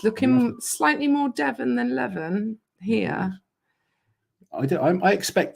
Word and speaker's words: Levan: slightly more devin than levin here i do i expect that though on a on our stream are it's more western levan does not rhyme with devon levin devon levin devons is here isn't it